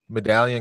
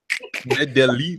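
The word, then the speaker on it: Medellín: Medallion, Colombia. No, it's not Medallion. Don't be an American. William thinks he can pronounce everything, doesn't he? What's it called? Medellin.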